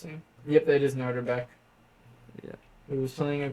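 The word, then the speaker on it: Nodirbek: Yes, I think that's how you pronounce it. Yep, that is Noderbeck.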